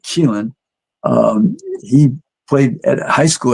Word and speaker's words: Keelan: And her son, Keelan, and that's the name, that's how you pronounce it, Keelan, he played at high school at Duncanville High School in Texas.